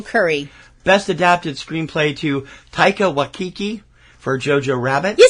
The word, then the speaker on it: Taika Waititi: Best adapted screenplay to Taika Waititi for Jojo Rabbit.